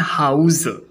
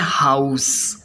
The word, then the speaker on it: house: संरक्षण प्रदान करना और जब हाउस का प्रयोग नाउन के रूप में किया जाता है तो इसका उच्चारण होता है हाउस हाउस जिसका हिंदी मीनिंग होता